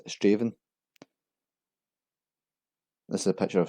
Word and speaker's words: Strathaven: This is a small town in Lanarkshire, often mispronounced as Strathaven. It's actually pronounced as Straven.